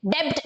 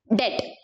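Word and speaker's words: debt: See again B is silent, डेब्ट नहीं बोलना है आपको. बैड डेट.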